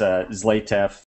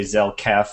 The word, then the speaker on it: Zlatev: Yeah, it's great to be here, and yeah, my name's pronounced Zlatev. It's okay. Everybody slaughters it all the time, but yeah, I've actually had people say Zelkef and there's no K and tons of things like that.